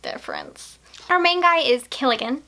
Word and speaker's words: Killigan: Our main guy is Killigan, not Gilligan with a G, but Killigan with a K, and I'm pretty sure those rhyme, so I'm going to pronounce it almost the same way.